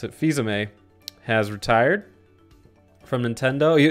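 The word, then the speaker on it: Fils-Aimé: a little extra info right now Reggie whew Fiza May that's how you pronounce it Fiza May has retired from Nintendo you it hasn't officially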